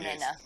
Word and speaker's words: Nhenha: it's pronounced basically N-E-N-A, but the H just slightly aspirates it, so it's not quite, but it's halfway between Nhenha and Nhenha.